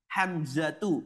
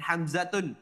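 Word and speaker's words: حمزة: hilang menjadi domah saja hamzatu bukan hamzatun Namun hamzatu thhatu bukan thhatun usamatu bukan usamatun muawiyatu bukan muawiyatun dan iqrimatu bukan ikrimatun semuanya yang berakhiran tak marbutah nama laki-laki yang berakhiran tak marbutah maka dia dibaca dengan dah saja tidak ada tanwinnya sebagaimana di sini setelahnya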